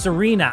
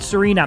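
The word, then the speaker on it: Tsareena: It's pronounced Serena. Oh, yeah, the TS. Yep, Serena. Thank you.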